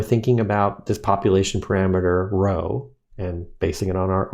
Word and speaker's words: rho: looking p it's a greek symbol that we pronounce as rho and so the idea here is that we would use our sample statistic r to make inferences about a population parameter rho okay now when we're doing our hypothesis testing